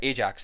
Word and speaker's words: Ajax: this is because it's under yak security or Ajax if you might pronounce it that room so in